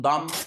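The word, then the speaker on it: dumb: البي ام البي ام لو حرف البي يجا في اخر الكلمه اللي هو البي الخفيفه ويجي قبله ام ما بنطقش البي زي مثلا ضم ضم يعني غبي وكلايم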